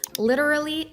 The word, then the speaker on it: literally: So first up, we have two words, literally and rarely. So to nail the word literally, you gotta work on two words, little, rally, a little, rally.